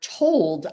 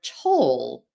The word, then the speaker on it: told: And I already gave you that example of the word feel if you're dropping that final sound in field. And similarly, the word told, I told you, would become the word toll, something you pay on a road.